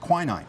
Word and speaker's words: quinine: And the active ingredient in that tonic is quinine. You might have heard it pronounced quinine.